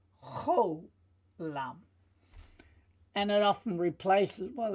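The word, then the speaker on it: חולם: It's a cholam, so we can hear from the sound it makes. It's an O sound, cholam.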